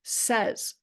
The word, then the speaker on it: says: plays and stays now it's certainly interesting that the pronunciation of the bases py pla y sty stay the same pay after we add that suffix s so we've got pay pays play plays but not sa y we have say says but what we need to focus on is that while the pronunciation of the base does shift the spelling which is